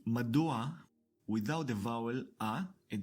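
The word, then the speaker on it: מדוע: So in order to overcome this pronunciation difficulty, the Hebrew language adds an a sound before the last guttural consonant, turning madur to madua.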